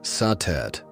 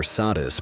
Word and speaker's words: Satet: Before the great names of Isis or Hathor filled the temples of Egypt, there was Satet, pronounced Satet or Satis by the Greeks.